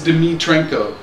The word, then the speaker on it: Dimitrenko: Yeah, all these names, I can't even pronounce them. It's Dimitrenko. Yeah. Dimitrenko.